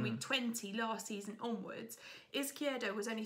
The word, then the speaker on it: Izquierdo: It's Izquierdo at Brighton. Well pronounced, by the way.